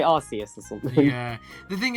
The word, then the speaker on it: Arceus: Arceus was actually fine.